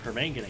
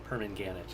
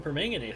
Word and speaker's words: permanganate: yeah we have the Egyptian Legends facing chemists of Team permanganate it's the chemist's approach which I mistakenly originally pronounce permanganet it sounds like a fruit kind of does so the Egyptian